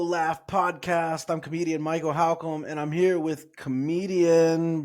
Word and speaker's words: Halcomb: So the last name is Halcomb, as in like if you were asking the question, how come, right? And people say Holcomb, and it just like my whole life, dude.